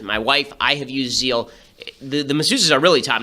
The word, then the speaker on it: Zeel: I have used Zeal.